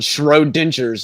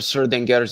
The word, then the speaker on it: Schrödinger: God, you Americans, when you pronounce things, it's about as bad as Immutable and Schrodinger's equation instead of Schrödinger's equation.